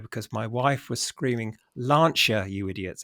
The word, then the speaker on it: Lancia: of the video because my wife was screaming lancher you idiots it's pronounced lancher that's because Tom's calling it Lancia so we